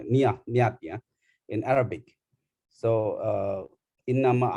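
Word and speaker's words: نية: How do we pronounce it? Niyat, yeah, in Arabic.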